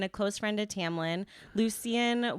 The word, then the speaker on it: Lucien: close friend to Tamlin Lucen was is that how you say it I I heard it pronounced Lucian Lucian okay was a member